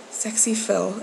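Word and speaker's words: SxePhil: Another one is Sexy Phil. It's spelled S-X-E Phil, and he's really funny.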